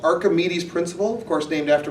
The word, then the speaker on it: Archimedes: not like, How do you pronounce that? Archimedes.